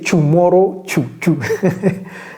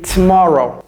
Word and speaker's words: tomorrow: quoi est-ce que c'est tomorrow c'est pas Toro ça c'est comme si c'était un T et un S combiné donc ça c'est et ne prononcez pas le O ici c'est tomorrow tomorrow même chose ici